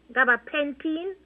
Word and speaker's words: gabapentin: But the thing is this, I did went to the doctor, and he gave me gabapentin, 100 milligrams. That's how you pronounce it, Gabapentin.